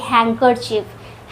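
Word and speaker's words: handkerchief: कुछ और ऐसे वर्ड्स हैं जैसे हैंकर चिफ। हैंकर चीफ में भी बीच में डी आता है पर डी वहां साइलेंट होता है।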